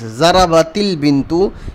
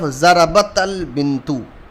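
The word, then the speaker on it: ضربت البنت: When the two sukoon comes together, then the first sukoon is converted into kasra, and we read like this: zarabatil bintu instead of zarabatal bintu.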